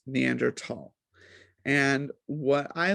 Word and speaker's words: Neanderthal: is, so from my understanding, it is correctly pronounced Neanderthal.